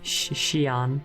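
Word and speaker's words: Xion: It's like it begins with an X, but it's not pronounced like it begins with an X. Zion? Almost. Shion.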